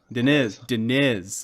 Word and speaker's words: Diniz: This week, we're going to be talking to Tyson Diniz. Is that how I say it? I guess I've never really said it before. Diniz or Diniz? Diniz. I see the emphasis is on the other syllable.